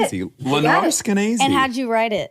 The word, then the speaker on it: Skenazy: But Lenore Skenazy, how do I get That's it. Skenazy. That's it. Lenore it. Skenazy.